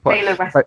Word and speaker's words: Taylor Wessing: Is that how you pronounce it? Yeah. Taylor Wessing.